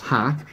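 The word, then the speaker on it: ห้า: silly fact for you the number five in Thailand is pronounced ha so somebody wants to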